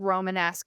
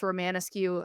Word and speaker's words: Romanesque: So I had a really bad professor once uh in high school who uh mispronounced the word Romanesque as Romaniscu and then told me I was wrong by correcting him.